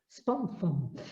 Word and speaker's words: Spawnfoam: SPOFOAM.